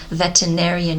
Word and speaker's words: veterinarian: you spell it in Romanian it's it's actually pronounced differently veterinarian you kind of put the t and n